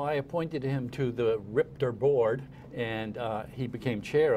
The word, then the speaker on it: RIPTA: You spell it R-I-P-T-A, but you say it Ripter here in Rhode Island.